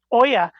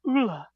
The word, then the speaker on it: olla: Thank you for clarifying Oya, because I always pronounced it Ula instead, like OLLA.